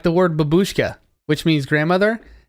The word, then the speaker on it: babushka: So, like the word babushka, which means grandmother, all Americans pronounce it that way, but it's not that way. It's babushka. Babushka. Yeah, so they're like really strong on the first syllable a lot of times.